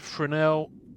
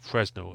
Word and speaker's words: Fresnel: Marvel ages pack called a Spider-Man Fresnel SSP or Fresno as a lot of people are mispronouncing it.